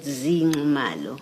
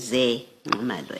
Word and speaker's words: Ze Ngqamalo: So, the correct pronunciation is Ze Ngqamalo as is written here.